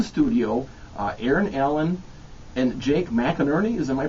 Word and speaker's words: McInerney: So I want to welcome to the studio Aaron Allen and Jake McInerney. Am I pronouncing that right, Yes, Jake?